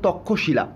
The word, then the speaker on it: তক্ষশিলা: ট্যাক্সিলা বা তক্ষশিলা, তখনকার নাম বলা হয়, বাংলায় উচ্চারণ করলে তক্ষশিলা।